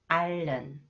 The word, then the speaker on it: 앓는: Okay, next, when the final consonant 리을, 히읗 is followed by a vowel sound, 히읗 is not pronounced. 실은, 실은. 앓는, 앓는.